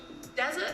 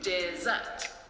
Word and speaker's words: dessert: Dessert is a 2-syllable word with the stress on the second syllable. You can do it like this, dessert.